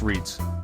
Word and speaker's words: REIT: estate investment trusts or REITs pronounced REITs but not quite the same as the sound you make when you accidentally stub your